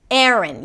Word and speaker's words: Erin: The first syllable is 'eh', 'eh', and even something closer to an 'uh' sound. And then the second part is 'rn', 'rn' - an R sound, a schwa, and an N - 'rn'.